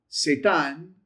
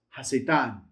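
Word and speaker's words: הַשָּׂטָן: It's not Satan. It's not the adversary. It's ha-Satan.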